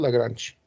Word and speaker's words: Lagrange: Lagrange, creo que me dicen que se pronuncia así, Lagrange, algo así. No sé francés, ¿eh? Porque creo que era suizo, algo así. Entonces se pronuncia como en francés, pero bueno, nosotros le decimos Lagrange.